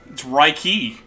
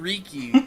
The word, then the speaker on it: Riki: I mean, as we made a discovery today, apparently it's Reiki. Oh. Yeah. I call him Riki, and I call him that because that's how they say it in British, and that kind of stuck.